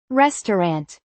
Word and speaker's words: restaurant: interesting interesting We are going to a restaurant. The middle sound often disappears. What does it really sound like? restaurant restaurant This chair is comfortable.